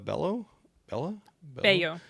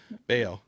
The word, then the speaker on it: Bello: Mortensen, I like him a lot, and Maria Bayo. Bello. Sorry, I think. I Unless am really she's great about Italian. It might be pronouncing- Bello. Might be It is Bello.